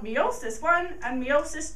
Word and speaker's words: meiosis: a lot to learn first of all it's pronounced meosis meosis is a formation of sex cells a